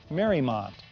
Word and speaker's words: Mariemont: Mariemont is pronounced Mariemont and was named after Mary Emery's estate in Newport, Rhode Island.